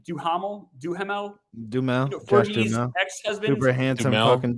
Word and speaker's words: Duhamel: I always mispronounce his name. Duhamel.